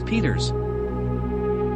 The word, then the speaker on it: Pietersz: Both Momo and my mother's last name was Peters. The ancestors of all the Peters on the island lie buried at nearby Landhaus Bever. That is, those whose last name is spelled with a Z at the end.